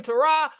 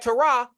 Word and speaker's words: Terah: isn't it rich that tah or Terror nearly rhymes with error a cosmic era sitting